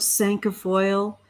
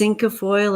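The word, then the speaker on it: cinquefoil: know about Sanka foil you could call it's Inka foil or Sanka foil it's five finger grass for a reason because in French you have a duck walk cat sank sank is spelled CI and qu e sank a foil is five finger grafts it's for incredible amounts of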